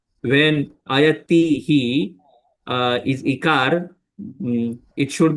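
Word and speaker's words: अयतिः: Ayatihi, like that I did pronunciation. When we recite the last tihi need not be very prominent. It get merged basically. We need not pronounce it clearly. Tihi, like we have to pronounce like ayati shraddhayopeto.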